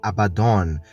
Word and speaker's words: Abaddon: Em hebraico se pronuncia Abaddon e tem o significado de destruição ou até mesmo desgraça.